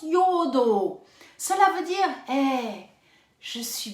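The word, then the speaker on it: εὐοδόω: Ça s'écrit E-U-O-D-O-O, mais ça se prononce Yo-o-do-o.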